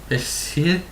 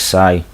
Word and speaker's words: Hsieh: Alex Hessie? Where? Where? Oh, Alex Sai, silent H.